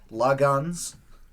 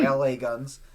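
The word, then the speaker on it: L.A. Guns: my love Goodbye by lagons or LA Guns depending on how you want to pronounce it Queen in Love by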